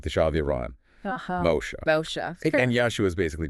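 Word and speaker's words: משה: And Moshe is like mow the lawn. Then Shah, like the Shah of Iran. Moshe.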